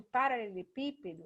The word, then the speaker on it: paralelepípedo: No caso de paralelepípedo, ó, o pi, que por um acaso é o acentuado, é a mais forte, então é a antepenúltima.